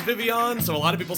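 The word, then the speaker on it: Vivillon: with the Pokemon Vivion and it is officially pronounced Vivion but not a lot of people know that it's Vivion so a lot of people say vivilan so which is it when I named this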